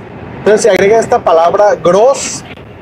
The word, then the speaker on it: Groß: Entonces se agrega esta palabra Groß, que se escribe G-R-O, y esta letra que parece una B grande, pero se llama E-Z. E-Z, que se pronuncia como doble S, S-S.